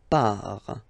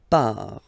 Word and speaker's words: pars: So the first form is je pars. So final S not pronounced. Je pars. Tu pars.